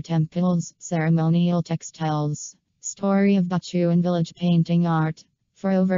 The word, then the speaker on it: Batuan: Bachuan village eventually came to be called Bachuan, from the word of Batu/rock, because in that time in this region is a rocky area the famous Balinese sandstones are still produced here in northern of Bachuan, then because of daily changes in the pronunciation then more popularly known as Bachuan village.